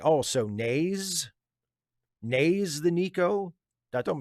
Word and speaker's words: Naz: And Steve, Naz is pronounced with a long A. Oh, so Naze?